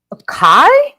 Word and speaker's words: Chi: me one sec yeah how do I pronounce that Chi or chai Kai really that's how you pronounce it Kai so it was neither one that I was saying yeah you guys are